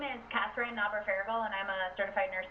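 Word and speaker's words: Knauber-Ferriegel: So, is it pronounced Naber-Farragle? Naber-Farragle.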